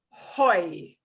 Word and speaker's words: hoy: we're going to practice these together we never pronounce this hoy there is no ha for aceh the next